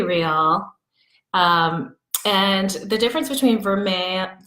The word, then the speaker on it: vermeil: and the difference between ver may form a I want to always pronounce the L but it's it's not there the difference between from